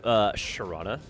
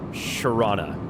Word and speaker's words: Toronto: The longer you live in the city of Toronto, the less likely you are to pronounce it correctly. It just becomes this rolling R. And then if you live there for long enough, it's spelled C-H-R-A-W-N-N-A. Sharana.